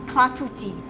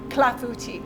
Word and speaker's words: clafoutis: Clafoutis. Clafoutis.